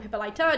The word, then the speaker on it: Hippolyta: There was an original Amazonian queen called Hippolyte or Hippolyta, depending on the syllables in like the sentence and the meter and all that kind of jazz. One or the other, it's both the same person.